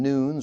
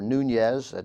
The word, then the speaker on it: Nunes: Representative Devin Nunes, or Nunez, that's spelled N-U-N-E-S, a Republican of California.